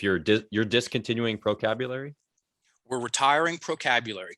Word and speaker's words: Procabulary: If you're discontinuing Procabulary, We're retiring procabulary, correct? Because, well, procabulary, there's 5 syllables. It's hard to say. 15% of the time, people say procabulary.